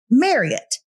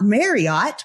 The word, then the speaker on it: Marriott: And she said, "My name is pronounced exactly like yours, Marriott." like Elliot, not Marriott, because there's no such thing as an Eleot.